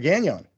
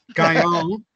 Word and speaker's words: Gagnon: And you've given a sort of French pronunciation to the name, which is okay. Gagnon. is the way it should be pronounced, but we've bowed to the English-speaking world and we say Gagnon.